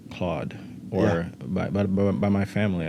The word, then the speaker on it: Claude: have special guests today Claude correct yep correct pronouncing the real pronounce well the real French pronunciation is Claude okay it's all right